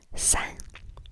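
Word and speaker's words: 三: not 1, not 2, but 3, which is san, san, S-A-N, san, san, san, san.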